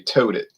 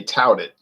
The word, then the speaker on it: touted: anyway all right so i've heard people on video say tote it they the company totes it but they're meaning to say touted well this smells okay